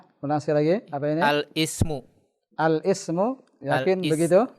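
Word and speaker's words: الاسم: Al-ismu. Al-ismu. Yakin Al-is. begitu bacanya? Al-ismu. Ini hamzah wasal di tengah. Bagaimana bacanya? Al-ismu. Al-ismu. La, jangan al. Alismu. Alismu. Alismu.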